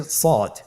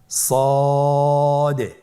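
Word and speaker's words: ص: শুরুতে আমরা শুরু করছি সদ। সদ হরফটি পর হরফ। মোটা হরফ উচ্চারণ ক্ষেত্রে মোটা করে পড়তে হবে এবং উচ্চারণ করার সময় তিন আলিফ টেনে পড়তে হবে। আপনারা আমার সাথে বলুন সদ আবার বলুন সদ।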